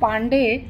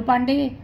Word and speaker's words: পান্ডে: করা যায় তাদের মঙ্গল পান্ডে হয়ে গেল এক বিভীষিকার প্রতীক মঙ্গলবার দিয়ে শুধু পান্ডে তাও ইংরেজরা পান্ডে ঠিকমতন উচ্চারণ করতে পারে না হলো পান্ডি এই পান্ডির মতন দুশমন